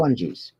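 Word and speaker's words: Pukwudgies: Puckwungies.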